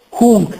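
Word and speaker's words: hunc: questo ai maschile femminile hunk hank quella n è seguito da una velare hunk hank E appunto è una N non pronunciata in maniera anteriore cono dei denti ma con il velo Palatino n velare però non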